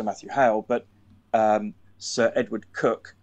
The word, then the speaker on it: Coke: There's the most go-to people are either Sir Matthew Hale, but Sir Edward Cook, spelt C-O-K-E, right, like the drink Coke, but it's pronounced Cook.